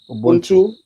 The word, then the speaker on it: ubuntu: and i mean there's something that they say ubuntu is that a correct pronunciation yeah yeah ubuntu yes yes you are because i am right